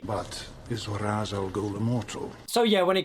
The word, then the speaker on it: Ra's al Ghul: Am I pronouncing this right? Mr. Raz Al Ghul? Mr. Raz Al Ghul? I'm sorry, love, but no. You did not say that properly. But is Ra's al Ghul immortal?